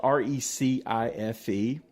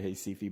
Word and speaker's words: Recife: And it's spelled Recife, but in Portuguese, Brazilians speak Portuguese, that would be Recife.